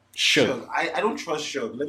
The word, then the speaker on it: Suge: Suge. Suge.